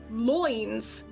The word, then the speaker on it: lines: know like family lines but it would have been pronounced loins and so it's like